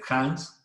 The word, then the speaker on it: Hans: Y pueden ustedes también revisar, les decía el licenciado, la obra Derecho Penal Alemán del profesor Hans Welzel. Se escribe Hans, H-A-N-S, Hans, y luego Welzel con W, Welzel con Z, W-E-L-Z-E-L, Welzel.